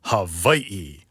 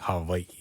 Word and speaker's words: Hawaii: And what I've heard is like it's it's somewhere in between. It's like kind of a you soften the V sound. So it's like Hawaii. So it's not quite not quite w and not quite vi somewhere in the middle.